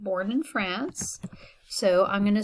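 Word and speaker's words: française: was not born in france so i'm going to say frances and i need to pronounce the s at the end because that's how you say it when it's in the feminine form okay and but if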